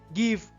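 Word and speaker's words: gift: যেমন কিছু শব্দে জি এর পর ই, আই বা ওয়াই থাকলেও উচ্চারণ জ হয় না বরং গ হয়। যেমন gate, গিফট, girl, গিফট, geyser ইত্যাদি।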